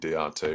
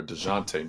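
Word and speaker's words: Dejounte: the Lakers I think Deontay Murray or dejonte Murray as it's pronounced I think he'd be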